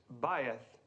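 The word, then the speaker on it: בית: Mr Crane thank you the correct pronunciation is baith and who can tell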